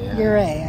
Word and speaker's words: Ouray: Especially heading out of, I'm not going to pronounce that right. Oh, Ouray. Ouray, I think it's how you say it.